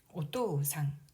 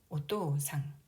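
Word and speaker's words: お父さん: 그래서 토의 오를 우까지 끌어서 발음하면 되겠습니다. 오또상, 오또상.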